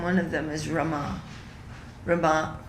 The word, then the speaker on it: Rama: of them is rama rama r a m a long a at the Again Rama